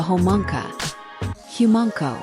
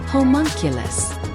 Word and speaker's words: homunculus: But thanks to some weird magic of a homa humanko. Uh homunculus was told boomstick the correct pronunciation.